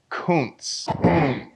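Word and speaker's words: Kunce: is actually named Lucas Kuntz. Yeah, apparently that's how you pronounce it. I've been saying it that other way.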